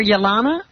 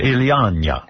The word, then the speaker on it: Ilyana: You were calling her Yelana? Yeah, Ilyana. It's Ilyana.